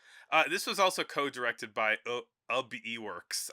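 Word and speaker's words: Ub Iwerks: This was also co-directed by Ub Eworks. I've never known how to say his name. But We'll go he with was Ub. yeah, his name is Ub Iworks.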